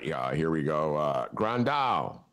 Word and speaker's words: Grandal: Grandal. Am I pronouncing it right? Yeah, Grandal is from.